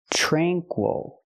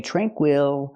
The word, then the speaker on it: tranquil: Again, the stress is on the first syllable. So, we don't say tranquil. We say tranquil. Let's talk about the a sound. We don't say tra tr tranquil. We don't use the a sound like black cat.